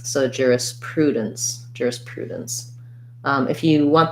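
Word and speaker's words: jurisprudence: so um thinking about juris juris prue and then dense at the end is going to almost have no vowel again there's our syllabic end so going as quickly as i can from the d to the n and the ce says s so juris prudence juris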